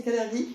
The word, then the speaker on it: Kalergi: ça a commencé avec Cergi ou cergie je sais pas comment on prononce cergie ça dépend à l'allemand à l'allemande c'est kalergi je CIS c'est ça moi